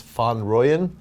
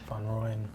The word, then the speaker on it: Van Rooyen: Cece and Jason, which I was taught how to say his name is Van Rooyen. Van Rooyen.